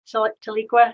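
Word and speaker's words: Tahlequah: a show in um to leak where's that taliqua is that the right pronunciation that's it it was called breaking the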